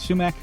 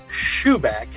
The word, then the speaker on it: sumac: a beverage sounds familiar am you saying that right sumac Ben yeah yeah you Al get some people that go shoe back but I've heard of both way as well yeah okay I'm I'm